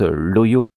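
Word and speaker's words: Hoio: Je me présente, Loyo, que vous pouvez écrire H-O-I-O. Prononcez bien Loyo, hein, s'il vous plaît, pas Loyo ou Loyo, ou, voilà, sans accent, s'il vous plaît.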